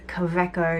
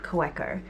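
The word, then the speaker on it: Kaweco: inky contacted me and tell me how to say it properly so it is cove echo not coworker anyway I ordered the longer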